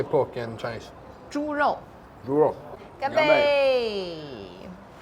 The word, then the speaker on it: 猪肉: 猪肉.